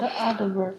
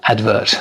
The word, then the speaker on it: advert: The word advert. Advert. The stress is on the first syllable as opposed to advertisement.